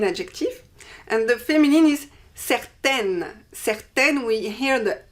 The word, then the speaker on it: certaine: And the feminine is certaine. Certaine, we hear the N because there is an E after. Certaine.